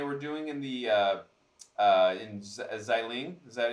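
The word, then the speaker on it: Xialing: We did see when they were doing in the in Xiling.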